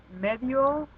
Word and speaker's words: medio: Medio, media, which has the I and the O. So I, since it's a weak, always gets absorbed into the A and the O.